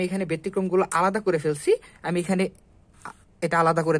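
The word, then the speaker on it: ふ: হা হি এটা ব্যতিক্রম হু এর পরিবর্তে এটা উচ্চারণ হবে ফু হা হি ফু হে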